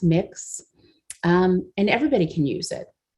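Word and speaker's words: Mx: You can use a non-binary of miss, or Mrs., pronounced mix, and everybody can use it.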